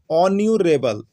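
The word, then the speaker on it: honourable: होता है, राम इज, यहाँ पर एच है लेकिन एच क्या है आपका साइलेंट है, एच साइलेंट है, एच का उच्चारण नहीं हो रहा, तो क्या हो रहा है ऑन्यूरेबल, ऑन्यूरेबल।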